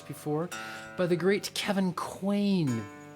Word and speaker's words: Quain: side of the page i realize i haven't pronounced his name very well so i'm going to say it again kevin quain you spell his surname q-u-a-i-n and if you search